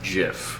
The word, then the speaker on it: GIF: gif yes jiff jiff yeah pronounced jiff it's gift but one says yeah